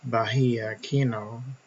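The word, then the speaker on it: Bahía Kino: Okay, Kino Bay is the first town we will discuss in this book, and it's also known as Bahia Kino. That's the Spanish way of pronouncing it.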